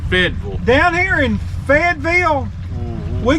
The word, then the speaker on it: Fayetteville: alabama fayetteville alabama fayetteville fayetteville yeah that's how you say it here i mean a lot of people say it fayetteville we say it fedville down here in fedville